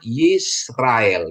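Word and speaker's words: ישראל: dia bacanya S ya Ini namanya spa silent Jadi kalau dia spa silent jadi Sin jadi S ya jadi S ini ya ahah ini terus ini ada Res Res itu dikasih kamat jadi dia bacanya ra nah terus ini alep ya ingat alef silent tapi dikasih dia Sere dia jadi e ya jadi bacanya yisrael Ya Bene yisrael ya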